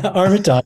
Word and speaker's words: Armatas: Am I pronouncing that correctly? Yeah, thank you. Yeah, Armatas. That's always, I have an uncle who pronounces it Armatas. We always tell him he's wrong. Armatas.